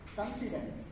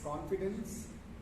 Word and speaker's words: confidence: Somebody mentioned confidence, it's confidence.